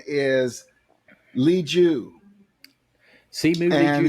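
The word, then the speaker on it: Liu: Okay, the lead actor on Shang-Chi, the Marvel movie, is pronounced Simu. It's Simu, but it's Simu. And his last name is Lee Ju. Simu and Lee Ju.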